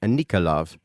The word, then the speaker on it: Enikol: It showed me the spelling of her name in my mind, but the pronunciation of the name was something like Anikol.